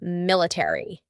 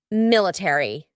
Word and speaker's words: military: a r y military in British English they often cut out the a so instead of military it would be military military that a is